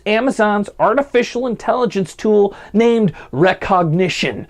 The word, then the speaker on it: Rekognition: artificial intelligence tool named recognition which I say it weird because it's spelled with a k which is weird recognition almost overnight deputies saw